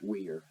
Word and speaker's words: were: However, the E in this one is actually silent. And we're going to get into those lessons a little later on, okay? There's a reason that that E is silent, and it has to do with the configuration of these letters. But we're not going to do that right now. Focus. But that says were, okay?